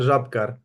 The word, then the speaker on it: Žabkar: us once again here at halftime with Jabkar. so first off, am I saying your name correctly? Yeah, it's hard to pronounce in English, but it's pretty good. It's Žabkar in Slovenian.